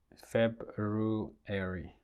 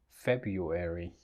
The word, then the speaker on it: February: The word, the second month of the year it's February, right? February. But it is often pronounced as February.